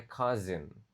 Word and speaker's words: cousin: Dan ini cara bacanya cousin pakai Z ya.